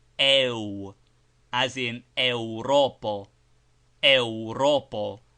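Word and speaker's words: Eŭropo: Europo is pronounced with a similar closing of the lips after the e sound.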